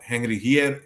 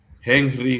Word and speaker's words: Henry: Aquí tenemos Henry Hierro, siempre pronunciando la H como el americano, dominicano que soy.